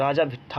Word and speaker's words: राजा भिट्ठा: गोड्डा जिले के पथरगामा के उत्तर पूर्व में राजा भिट्ठा, ये प्रोनाउंस यहाँ पे थोड़ा सा इसको गलत लिखा है, राजा भिट्ठा होता है, ठीक है।